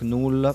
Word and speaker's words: Knull: kitchen interesting fact in we read it as knull probably the American pronunciation S knal in Italian they have decided to call it knol On the other hand